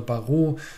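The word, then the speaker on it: James Baroud: Das heißt, es gibt noch einen anderen Anbieter, James Barrett oder Barrow wird ja ausgesprochen.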